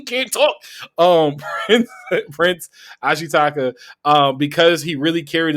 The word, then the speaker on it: Ashitaka: shiaka I can always get the main character's name wrong I'm sorry uh because he really carried the movie ashitaka thank you bro this is why a you